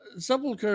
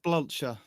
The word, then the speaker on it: Sepulchre: Sepulchre is how you say it, but how did you say that? Spalosha.